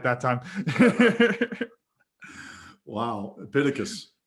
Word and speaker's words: Epictetus: Epictetus. Epictetus, there we go.